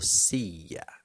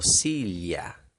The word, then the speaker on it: silla: sí ya si ya en otras partes vamos a escuchar algo como si la silla en la mayor parte de las regiones en donde se habla español en el mundo vamos a encontrar la pronunciación sí ya sí ya y por fin en uruguay y argentina región de buenos aires específicamente vamos a encontrar algo como sí ya sí sí obviamente todas las formas